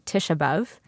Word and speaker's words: Tisha B'Av: I grew up saying Tisha B'Av. So sort of flattening all of the vowels and the sort of real Ivrit, right, Israeli pronunciation of Tisha B'Av. So Tisha B'Av, Tisha B'Av, it's the same thing.